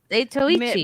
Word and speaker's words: Zatoichi: Yeah, Well, it's The Tale of I've been Zatochi. saying Zato is cane sword this whole time. You- Such an idiot. You skipped a few letters, I Zatoichi.